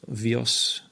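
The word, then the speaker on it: βίος: And so a biogony, we got the Greek word bios, vios, to pronounce it correctly, agonizo, to struggle.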